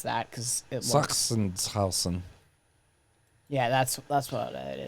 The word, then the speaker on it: Sachsenhausen: I'm not going to try to pronounce that because it looks. Sachsenhausen.